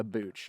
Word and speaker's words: booch: Rhymes with gooch. I love booch. Rhymes with cooch.